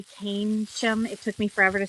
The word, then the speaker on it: Keynsham: It's spelled like key and sham, but you say Keynsham.